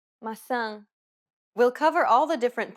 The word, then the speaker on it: maçã: The letters A, E, and O each have an open and closed variant, and many Portuguese words differ only in the openness of the vowel.